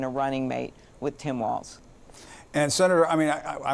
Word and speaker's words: Walz: don't know who Tim Walls is I mean they may be spending the day mispronouncing his name and saying it's Walts instead of walls and so on and